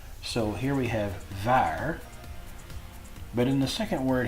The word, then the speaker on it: waar: On the beginning of a word, a W will usually be pronounced much like a V sound. So here we have waar, but in the second